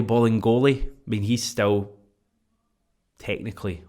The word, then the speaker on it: Bolingoli: It sounds like it should be Bailey, but it's obviously not Bailey. Bolly Bolingoli.